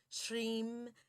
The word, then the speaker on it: Shreem: It's Om, I'm, Kreem, Shreem, Kleem, maha, lakshmi, swaha.